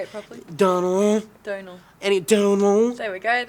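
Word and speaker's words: Domhnall: They were talking about Dom Hall Gleason. They Donald. Whatever. Fuck you. Say it properly. Donald.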